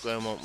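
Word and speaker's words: Grosmont: Gromont, pronounced Gromont, was once a hive of industry, but it's now a peaceful village huddled in the Esk Valley.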